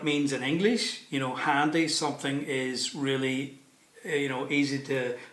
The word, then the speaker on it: Handy: So I'm pronouncing it with my sort of like Belfast accent, handy. The Germans say it often with like an American accent, handy, but it doesn't mean what it means in English.